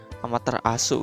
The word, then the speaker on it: Amaterasu: Amaterasu gitu bacanya, tulisannya juga Amaterasu.